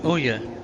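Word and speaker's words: Ohya: Oh, it's Anya or Oya, however you pronounce her name. Her confidant is like interesting, too. But it's Anya, like onion.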